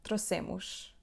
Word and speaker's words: trouxemos: Plural: "nós trouxemos"- we brought: trou.xe.mos. We stress the word on the second syllable from the end which is: /se/: /troSEmush/.